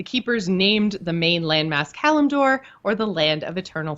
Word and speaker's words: Kalimdor: full version is just Kalimdor, or have I just been pronouncing it wrong forever? I've been pronouncing it wrong forever. There is no A between the M and the D.